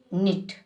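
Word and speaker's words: knit: सिद्ध होता है जैसे के एन आई टी निट यानी बुन्ना इसमें के साइलेंट है के निट नहीं होता है निट बोला जाता है मगर देवनागरी लिपि में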